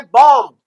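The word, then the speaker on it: bomb: अच्छा, अब ये है बॉम्ब। अपन बॉम्ब बॉम्ब बोल देते हैं, होता है बॉम्ब, क्योंकि बी साइलेंट है। और ये देखिए ऑ को यूज नहीं करेगा अमेरिकन, तो ये बोलेगा बाम, बाम, ठीक है।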